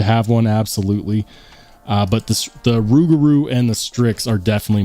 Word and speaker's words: Rougarou: how to say, misspelling it, Rougarou. Yeah, okay. How do you say it? You are saying it right.